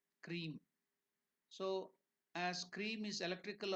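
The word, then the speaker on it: Kreem: more feminine aspect of cream there is another beam manra k r e e m cream so as cream is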